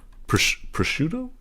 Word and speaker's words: prosciutto: Prosciutto? Let me look that up. Prosciutto pronunciation.